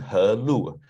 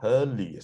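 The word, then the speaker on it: Helu: It's actually He Lu, sorry, not Lu. Because the Westerners, they don't know how to pronounce Chinese Hanyu Pinyin. It's actually spelled as LV, but usually they spell as LU, but this U is pronounced as Lu, so He Lu. Huh? HE is pronounced as He because He, right? It's not pronounced He Lu.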